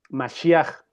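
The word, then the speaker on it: משיח: La pronunciación para esta palabra es masiaj.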